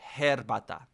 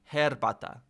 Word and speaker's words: herbata: Oh, so you pronounce the H. Herbata. Herbata.